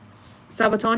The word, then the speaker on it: Sabaton: Sabaton, you pronounce it right.